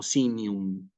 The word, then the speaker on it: signum: misma regla que es la G con la n se pronuncia como una ñ desaparece de alguna manera la g y va a sonar así como sinum no es um okay